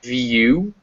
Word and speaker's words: view: It's most commonly pronounced U, as in view, or ewe, which is a female sheep.